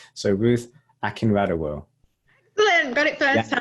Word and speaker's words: Akinradewo: So in an anglicized accent, it's Akinradewo, but it's originally from Nigeria, so Akinradewo would be the pronunciation in a Nigerian accent. But I just say Akinradewo because I was born and raised in Manchester, so yeah, I don't expect people to say it in the Nigerian way.